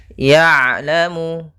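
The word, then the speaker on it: يَعْلَمُ: Ya'lamu, ya, kemudian di sini huruf ain sukun. Ain itu ada sifat namanya sifat bainiyah, tengah-tengah antara syiddah dan rakhawah, yaitu kalau syiddah suaranya tertahan, kalau rakhawah suara mengalir, tapi ain di antara kedua-duanya.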